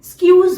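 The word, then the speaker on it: excuse: मैंने कई लोगों को इसे एक्सक्यूज मी कहते हुए सुना है, जो कि बिल्कुल गलत है। इसे हम एक्सक्यूज नहीं बोलेंगे, स्क्यूज बोलेंगे, स्क्यूज।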